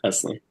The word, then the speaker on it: Eslliey: Yes, yeah, Eslliey.